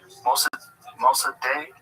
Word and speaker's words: Mossadegh: Mossadegh?